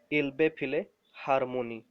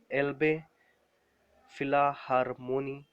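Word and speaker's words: Elbphilharmonie: इसको प्रोनाउंसिएशन ऐसे कर सकते हो, इल्बे फिले हारमोनी।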